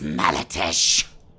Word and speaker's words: Malatesh: my return what's your name my name is Mara Tesh oh boy all right real fast I want